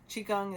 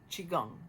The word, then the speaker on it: Qigong: Qigong is spelled Qi and then Gong. Qigong or Qigong, however you want to pronounce it, but it is a simpler type of movement.